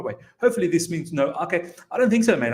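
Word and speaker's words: Aké: I was saying AK. I do apologize. I didn't mean it. I just thought that's how you pronounce it. But thank you so much for helping me out. It's actually Nathan Ake.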